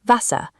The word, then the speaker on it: Wasser: In German, you must read this as an English V. The word for water is pronounced Wasser.